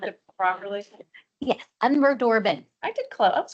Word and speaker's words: Unverdorben: great ice breaker can you U Can you pronounce it properly yes I'm we dorbin I did close I was close you were